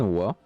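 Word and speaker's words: は: Tantosu San wa Gakuse Ja Alimasen ou Dewa Alimasen. Donc le ha se prononce aussi wa.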